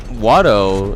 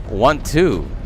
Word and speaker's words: Watto: The way that guy says it, instead of Watto, he pronounces it want to. I don't know why he pronounces it that way.